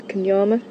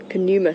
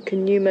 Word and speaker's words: Kuma: along with his brother kyama Kuma sorry I will get to pronounce the name right so Kuma and his brother roughly